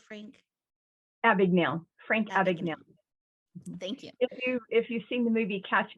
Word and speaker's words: Abagnale: of the Frank Advocate can you help me pronounce that word Frank a big nail Frank Abagnale thank you if you if you've seen the